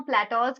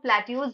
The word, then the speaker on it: plateaus: अब इस वीडियो में हम प्लेटोज के बारे में डिटेल में पढ़ेंगे। प्लेटोज तो इसका करेक्ट प्रोनाउंसिएशन है, काफी बार इसे लोग प्लेट्यूज भी बोलते हैं।